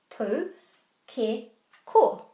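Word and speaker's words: pūkeko: The key to pronouncing any Māori word and getting these vowels right is to put a little break after every vowel.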